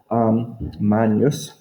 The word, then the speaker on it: magnus: stem, magn, or magne, because our GN sounds when we use ecclesiastical or church pronunciation, it's really a n sound, kind of like the Spanish nye. Magnus.